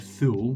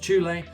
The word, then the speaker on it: Thule: That's how I always used to call it a thool, but it's pronounced chle.